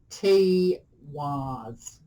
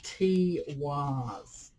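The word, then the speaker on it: Tiwaz: Okay, so this is pronounced T-Waz.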